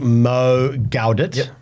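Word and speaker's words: Mo Gawdat: Steven Bartlet D CEO and he was interviewing Mo galit did I pronounce that correctly you did smashed it g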